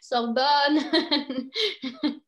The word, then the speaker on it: Sorbonne: It's more of an open O for the pronunciation. An open O. Yeah, Sorbonne.